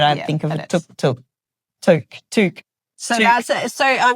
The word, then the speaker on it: toque: It sounds like a tuk-tuk. Every time they say it, I think of a tuk-tuk. Toque.